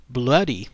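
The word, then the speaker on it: Bluidy: his better known nickname bloody McKenzie although it's spelled b UI d y I believe they're trying to make it seem bloody m y back then that that's what it was said or the way it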